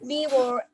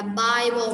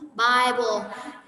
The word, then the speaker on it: Bible: Their family are beaver, and he spent many hours reading it.